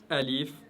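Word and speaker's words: ألف: la langue arabe sont alif, ra et lam. Alif, ra et lam. Alors aujourd'hui, tout ce que vous devez savoir, c'est que alif, prononcez-le toujours de manière légère, raison pour laquelle je l'ai mis en jaune.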